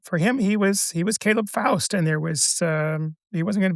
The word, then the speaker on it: Faust: sounds that Russian has, but the sound "aw" is not exactly in the Russian language.